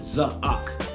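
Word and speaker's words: צָעַק: hyphen AQ and that means Zak that's how pronounce it zahak and that word means to summons it does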